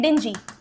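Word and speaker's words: dinghy: इसको इंग्लिश में बोलते हैं डिंजी।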